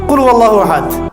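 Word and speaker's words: قُلْ هُوَ اللَّهُ أَحَدٌ: আরেকটা সূরা পড়ে গেলাম কুলহু আল্লাহু আহাদ কি কুলহু আল্লাহু আহাদ মানে কি এটা উচ্চারণই বা কেমন করে করতে হয় কুল বলুন হু আল্লাহু আহাদ তিনি আল্লাহ এক এই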